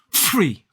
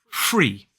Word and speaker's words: free: We place, to make that sound, we place our top teeth on our bottom lip and again, lightly blow air through it. We don't overly explode. It's not free. Gosh, I really am spitting on the mic. I'm sorry. Free. So we place the tip of our teeth on our bottom lip and blow air.